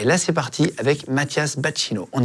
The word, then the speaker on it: Bacchino: Si vous découvrez Mathias Bacchino, on dit Bacchino, hein, c'est ça? C'est ça, ouais. Moi, j'ai repris la prononciation initiale. Mes grands-parents disaient Bassino, et moi, c'est Bacchino.